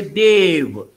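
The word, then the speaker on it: देव: one God, we say Dev. Dev. We don't bite our lip. Okay. In English, you have to bite your lip when you say V. Okay. But this is like D-E-W, pronunciation, Dev.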